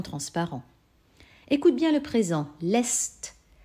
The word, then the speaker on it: lässt: Lässt. On entend une voyelle brève, car derrière, il y a deux S. Et on entend que le A est devenu E, donc il y a un umlaut.